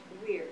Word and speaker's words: Weir: How do you say your last name? Weir, W-E-I-R.